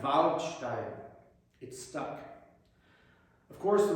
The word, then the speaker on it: Waldstein: She also taught me how to pronounce the bright ah in German. I said I was practicing the Waldstein Sonata by Beethoven, and she said, Nein, Waldstein.